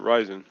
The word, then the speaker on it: Ryzen: And I think it's Risen, dude. I've heard both. Like I think the way I was pronouncing it for a while was Risen, or wait, Ryzen. Yeah, that's how you should pronounce it, Ryzen.